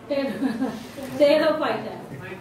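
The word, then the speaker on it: Pterophyta: टेरोफाइटा, P silent होता है यहाँ पे।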